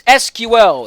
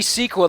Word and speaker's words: SQL: 80s and that see it's called SQL is basically bastardizing the idea behind kind an acronym it's SQL it's spelled if they wanted it to be sequel they would have been